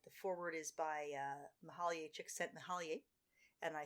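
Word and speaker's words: Csikszentmihalyi: and uh the forward is by uh mahalia chick sent me holly and i said that only to show off that i know how to pronounce his name it uh which is that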